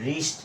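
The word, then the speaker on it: wrist: আমরা বলি কি এটাকে উস্ট উস্ট আসলে এটা উস্ট না এটা হবে রিস্ট ড আর আই এসটি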